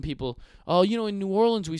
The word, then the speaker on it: New Orleans: oh really cuz you're saying your own City name wrong it's New Orleans just like or liens from Europe New Orleans not nollans you say it like that could you say